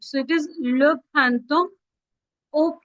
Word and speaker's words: printemps: जब भी आप वर्ड देखोगे TEMPS, remember guys, P is silent, so it is le printemps au printemps.